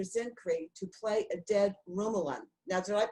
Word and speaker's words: Romulan: teaming with writer-director Zincree to play a dead Romulan. Now, did I pronounce Romulan correctly, or is there another way? Romulan?